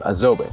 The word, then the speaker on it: Azobé: The wood we're using is called Azobé, at least that's how you pronounce it in my language.